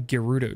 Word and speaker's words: Gerudo: All I know is I was wrong, and I think I was giving it the soft J instead of the hard G. So that was definitely it. So Riju of Gerudo Town.